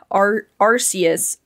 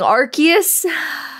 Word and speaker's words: Arceus: I used to say Arceus, Arceus, until I learned the correct pronunciation. Even though it pains me, it actually physically pains me to say Arceus, but I will be saying Arceus if it comes up.